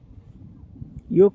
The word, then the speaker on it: योग: समझ रहे हैं मैं योग कर रहा हूं योगा कर रहा हूं योग का शुद्ध उच्चारण भी नहीं कर सकते हैं और योग की जगह पर योगा कहते हैं शरीर के व्यायाम का